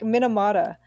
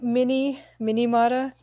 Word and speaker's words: Minamata: It sounds exactly how. There's nothing unusual going there. It's perfectly phonetic You could already. say like Minamata or something. What do people say? What are your like good screw ups that you get? Yeah, like Minimata. Mini.